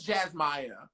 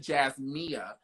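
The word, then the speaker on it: Jazmaya: i have a question was it jasmine or jazz maya just maya it is jazz maya so the girls who who are where i'm from they pronounce it jazz mia so when i was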